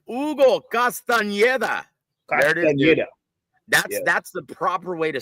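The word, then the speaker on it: Castañeda: Castaneda.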